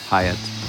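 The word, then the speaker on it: Hiut: two letters of utility, so it was H-I-U-T, Hieatt. And people go, how do you say it? I'm going, how do you want to say it? You can say Hieatt, Hieatt, who gives a shit?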